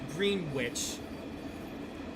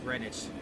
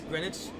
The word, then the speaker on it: Greenwich: I I always thought was was green witch, but no, apparently the other E and the W is silent, so it's just Greenwich.